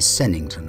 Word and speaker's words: Sevenhampton: to church in the village of seven hampton pronounced locally sennington i understand where we